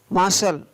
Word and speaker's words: martial: Next, शब्दों के अंत में जब TION, TIOUS, TIAL आता है तो उस समय टी का उच्चारण है वो स होता है। जैसे nation, NATION nation, nation, NATION nation. मार्शल, MARTIAL मार्शल, NUPTIAL नफसल, PARTIL फाशल, CAUTION कौशन, CAUTIOUS cautious.